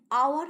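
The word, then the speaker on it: hour: Spelling H ও ইউ আর থাকলেও অ্যান আওয়ার হবে।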